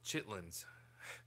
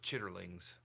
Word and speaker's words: chitterlings: Oh, chitlins or chitterlings, if you say it as it's spelled.